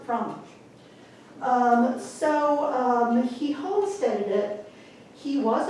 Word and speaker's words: Frandolig: And we call it, I mean, you know, in San Antonio, it's like, I was Frandolig, but honestly, down here, I'm a Frandolig, okay? So basically, that's how they pronounce it, Frandolig.